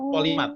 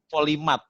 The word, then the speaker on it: polymath: Polimat. Nah, kalau antum mau, ini Ustaz kasih usulan nama polimat, nama angkatannya. Polimat itu tulisannya POLYMATH. Polimat. Polimat bacanya ya.